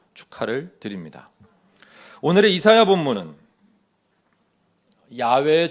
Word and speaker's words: 야훼: 그 인물을 가리켜 야훼의 종, 하나님의 종이라 하신 것입니다. 자, 오해에 대한 설명 이 정도 하고 이제 이사야 본문 속으로 들어가 보겠습니다. 이사야 42장 전체는 야훼, 그러니까 우리가 예전에 여호와라고 틀리게 발음하던 우리 하나님의 이름인데, 그